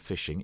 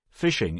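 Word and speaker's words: phishing: we should explain that even though the pronunciation is the same this variety of fishing is spelled with a pH and not an F right fishing is quite a recent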